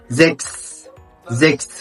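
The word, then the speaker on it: sechs: انا اقوللك في الكلمات المقطع ده هو السي اتش اس سي اتش اس وده بيتنطق اكس اكس ثم اشبيل زكس زكس يعني رقم تحت والمقطع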